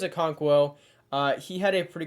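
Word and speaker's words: Okonkwo: always say it wrong I think it's a conquo uh he had a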